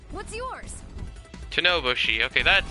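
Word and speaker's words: Tennouboshi: The name's Tenoboshi. What's yours? Tenoboshi.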